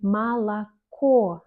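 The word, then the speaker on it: молоко: c'est vraiment comme ça par exemple malaco on écrit trois fois o mais on dit malaco o que la dernière lettre est accentuée donc on la prononce comme o et les autres on prononce comme A un autre exemple mal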